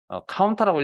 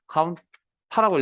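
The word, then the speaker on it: COUNTA: count 8라고 읽는 분도 있고요. count a. 저는 count a라고 읽겠습니다.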